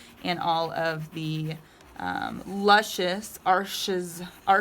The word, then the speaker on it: Arches: I'd also be able to buy all the canvases that I wanted and all of the luscious Arches, it's spelled arches, but I believe it's pronounced Arche, watercolor paper that I wanted.